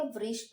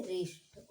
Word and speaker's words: wrist: इसे हम पढ़ेंगे रिष्ट। ओके, यहाँ पे W साइलेंट है।